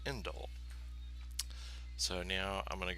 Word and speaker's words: endl: So this is what's called the ENDL, often pronounced indel.